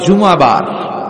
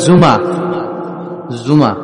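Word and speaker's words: জুমুআ: আসলে বলা উচিত জুমাবার। কিবার? জুমাবার। সূরাটার নাম হচ্ছে সূরাতুল জুমা। আমার সাথে সাথে বলেন সূরাতুল জুময়া সবাই বলেন সূরাতুল জুম অনেকে বলে ফেলে জুমা জুমা আসলে আরবিতে শুদ্ধ উচ্চারণটা হচ্ছে জুমু সূরাতুল জুম এই সূরাতে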